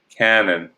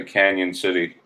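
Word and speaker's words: Cañon City: lot of places it's spelled without the tilde which could be pronounced cannon but they still say canyon city yeah there's a a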